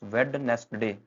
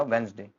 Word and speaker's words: Wednesday: पहला है हमारे पास वेडनेस्ट डे। हमेशा ऐसा बोलते हैं, गलत बोलते हैं अगर आप ऐसा बोल रहे हैं तो। हमारा जो बनेगा वो बनेगा वेडनेसडे।